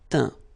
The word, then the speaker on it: teint: Okay, as usual, final T not pronounced. Atteint, éteint, feint, peint, teint.